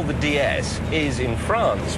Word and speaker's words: DS: what we call the DS is in France pronounced DS DS It's the French word for goddess it was no is